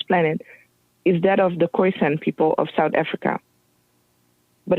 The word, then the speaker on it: Khoisan: Khoisan, and then San. Got you. Okay, I just wanted to get the pronunciation. Khoisan.